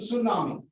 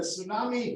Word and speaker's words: tsunami: word it's called the tsunami to Tsunami because we never knew that the tea was silent and when I was working there I was talking about 83 84 85 and then when the tsunami hit Chennai all of